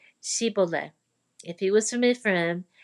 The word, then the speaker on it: Shibboleth: If the man said, "No, I'm not," they would tell him to say Shibboleth. If he was from Ephraim, he would say Siboleth, because people from Ephraim cannot pronounce the word correctly.